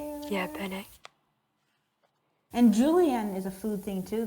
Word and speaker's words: Julienne: It's Juli, and then they pronounce the E, and then they pronounce the N, and then they pronounce the E as an E, so it's Julienne.